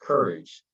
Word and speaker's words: CURYJ: And as a co-founder of CURYJ, again pronounced courage, he draws from his